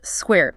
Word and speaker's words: SCQER: A system called SQUARE, that's spelled SCQER, standing for Single-Cell Quantitative Expression Reporters.